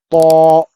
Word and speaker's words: ط: To. Thick letter. Musta'liyah letter. That's why we have to pronounce thick.